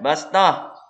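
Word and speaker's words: بسطة: Nah, kemudian bastah. Tulisan shad harus dibaca sin. Nah, ini. Fil khalqi bastah. Bukan bas. Fil khalqi bastah. Kalau sin itu agak ditarik. Fil khalqi bastah.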